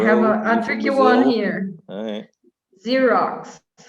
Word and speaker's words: Xerox: a tricky one here xerox i love this one it sounds like a z or z as you say and it's written